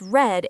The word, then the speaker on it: read: It's spelled the same as present, but pronounced red in past.